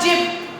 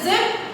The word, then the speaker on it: zip: So no one will call jib, zebra. No, it is not like that. It is zip and zebra.